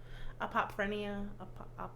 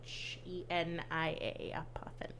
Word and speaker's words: Apophenia: And if you will want to Google apophrenia, it's spelled Apophenia. Apophenia. Apophenia. Apophenia. Apophenia. I got it right.